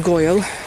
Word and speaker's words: gwyle: But going the route via the route called Tyneham Gwyle. Gwyle is a great word. It's spelt g w y l e. So, it looks like gwyl but it's not. It's gwyle.